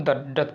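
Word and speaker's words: dearth: एक चीज़ देखिएगा, मैं इसको डर्थ नहीं पढ़ रहा हूँ, इसको क्या पढ़ूँ, डेथ पढ़ रहा हूँ। तो यहाँ पे आर, यहाँ पे साइलेंट समझ सकते हैं इसको।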